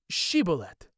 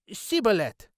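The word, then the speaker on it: Shibboleth: they said to him say now shibolet and he said shet and he was not prepared to pronounce it properly and they grabbed him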